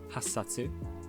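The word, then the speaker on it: 八冊: 8 books are hassatsu because the hachi and satsu run together in speech, so you get hassatsu, and sansatsu for 3.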